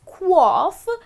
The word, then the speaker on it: quaff: Well, that's how it should be pronounced, as quaff.